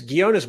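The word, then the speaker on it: Ghionis: And it's Gionis, by the way. Everyone says Gionis, Gionis. So just an English language thing. A G and an H is a hard G. G, ghost, Ghana.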